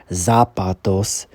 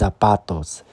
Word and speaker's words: zapatos: want the the Z the Z makes an S sound so you pronounce it is Zapatos so so the forward